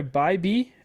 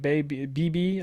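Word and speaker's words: Bibee: two right now Tanner byby I'm pretty sure it's house pronounced I've been calling it bab BB I think uh Tanner byby he's the number three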